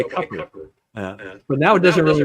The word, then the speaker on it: Cooper: to it so so Roy Cooper pronounces his name coer okay so yeah he prefers to go by CER but now it doesn't